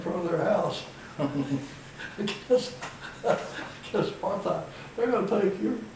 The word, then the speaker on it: apartheid: they were having such problems down there with, pronounce that word for me. Apartheid.